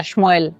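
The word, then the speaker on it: שמואל: En hebreo se pronuncia Shmuel, que significa Dios escuchó.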